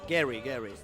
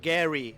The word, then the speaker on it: Gary: Gary. Ah, No és. Gary. o Gary? Gary.